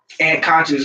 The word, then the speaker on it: Ant Kan$cious: So Ant Kan Cious rhymes with Ant Thomas.